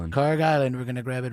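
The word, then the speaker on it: Kharg Island: Car Island. Car Island.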